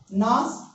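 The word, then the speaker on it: gnash: जी यहां पे साइलेंट रहेगा, नाश।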